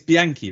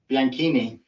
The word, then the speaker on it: Bianchini: pronounce my surname I well it's Bianchi right bianchini bianchini there you go see that's what I